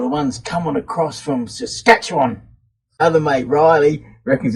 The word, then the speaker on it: Saskatchewan: they're here or the ones coming across from Saskatchewan other mate Riley reckons it's funny the way